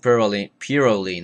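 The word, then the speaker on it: Pirouline: Make Purolene, that's how it's pronounced, make Purolene a tradition in your home.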